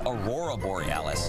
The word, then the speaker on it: Aurora Borealis: Okay, first off, you're pronouncing it wrong. It's Aurora Borealis.